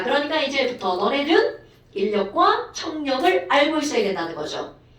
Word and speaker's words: 인력: 자 발음은 인력이라고 합니다. 인력. 자 그러니까 이제부터 너네들은 인력과 청력을 알고 있어야 된다는 거죠. 됐어요? 아하 시연아 인력 무슨 힘이라고요?